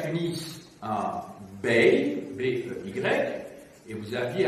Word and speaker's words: bey: Vous aviez à Tunis un bey, B-E-Y, et vous aviez à Alger un dey, D-E-Y, un D, un B, un D. C'est pour être audible que j'ai prononcé en distinguant donc les voyelles.